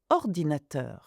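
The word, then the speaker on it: ordinateur: For example, this word ordinator. See, I stress the last syllable of words, which happens in French.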